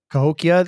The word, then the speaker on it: Cahokia: Cahokia.